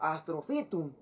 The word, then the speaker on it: Astrophytum: Ejemplo, Astropitum o Astropitum. Eso sería pronunciado como Astrophytum.